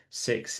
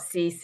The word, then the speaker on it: six: So in Jersey, six is simply si. Okay. So it's making sure you haven't got that sound on. It's not cease, it's C. Si, simply si.